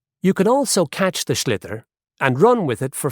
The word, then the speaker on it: sliotar: this ball, called a sliotar. That's s l i o t a r. So, it's not spelled the way it's pronounced.